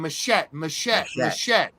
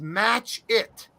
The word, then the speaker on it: Matchett: And I'm like, it's not Machette. His real name is pronounced Match It, which leads him to be Machete, but Machete's his wrestling name. Quit calling him Mash It or Machette.